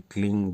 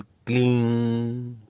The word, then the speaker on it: क्लीं: तो यहाँ जब इस मंत्र का उच्चारण करेंगे तो क्लींग या क्लीम न करके क्लींग, यानी इसमें क्लींग का प्रयोग ना करके और क्लीम का प्रयोग ना करके केवल क्लींग क्लींग क्लींग इस तरह से उच्चारण करेंगे।